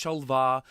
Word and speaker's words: Shol'va: and he's called Shova and I said Chauvin I'm like I know it's shol'va and I pronounced Iran